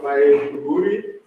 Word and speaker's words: Maiduguri: In the University of Maiduguri, correctly pronounced, Nigeria.